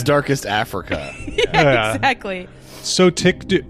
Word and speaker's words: Sotyktu: Sotictu.